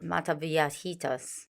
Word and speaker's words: Mataviejitas: the old lady killer as I try to pronounce earlier it's Al mataviatitas and if you notice the word l in